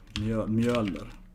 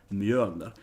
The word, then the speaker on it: Mjölnir: that's why you have to really pronounce that Ö sound. It's spelled like this in Swedish. Mjölnir. Mjölner. That's how it should be pronounced. Mjölner.